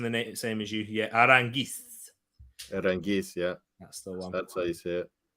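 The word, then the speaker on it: Aránguiz: That Aaron Gies. I first say it wrong. Aranguiz.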